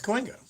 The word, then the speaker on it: Cahuenga: Yeah, it's Cahuenga.